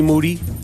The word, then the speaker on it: Moody: of the year Moody last name rhymes with Duty yep um monetti